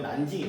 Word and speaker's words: 난징: 밑에 있는 수도 의미가 바로 남경인데 그거를 이제 중국식 발음하면 난징이 된다.